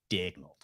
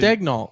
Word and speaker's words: Dagnall: need to pronounce his name correctly. Dagnall. There you go. He needs to. He needs My- to. He needs to, My Thunderbolt prediction. Huh? he needs to. Dagnall.